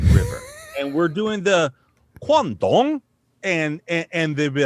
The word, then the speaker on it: Guangdong: that it's like but it's spelled like q-u-a-n-g-d-o-n-g guandong and but but it's like guangdong and and like and